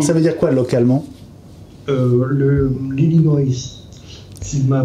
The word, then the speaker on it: Illinois: L'Illinois, si ma prononciation est correcte.